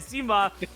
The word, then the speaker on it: Zima: I said it incorrectly on like the Sweegie stream, and everyone was like, no, that's not how you say it. Zima.